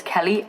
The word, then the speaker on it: Kehli: Is my actual name Kelly? My actual name is spelled like this, K-E-H-L-I, like that's my birth name.